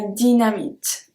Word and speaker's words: dynamite: La dynamite. And as you can see, Y or I, we pronounce it the same way.